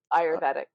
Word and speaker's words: Ayurvedic: How do you pronounce it? Ayurvedic.